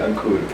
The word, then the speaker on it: Ankur: The way to pronounce it is A as in Aloha, N as in Nancy, K-U as in Kruger, R as in Richard, Ankur.